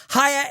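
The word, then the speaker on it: Haier: Hire is spelled H A I Er, and we're offering a discount on their amazing products.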